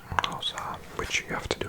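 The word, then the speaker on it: Xhosa: Official language is English and 11 others, including one called Rosa, which you have to do a click to say. Spelt X-H-O-S-A. And X-H is a click, so it's like Rosa. But I'm saying it wrong.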